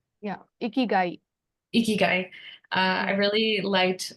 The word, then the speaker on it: Ikigai: Is that how you pronounce it? Correct me if I'm wrong. Yeah, Ikigai.